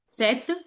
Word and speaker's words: sept: sept. Sept. You can say P is there, but P we never pronounce.